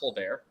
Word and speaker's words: Tolbert: Alec Pierce probably going to get draft capital, and Jalen, is it actually pronounced Tolbert?